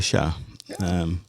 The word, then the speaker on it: chat: Well, I pronounced chat by enunciating the T at the end.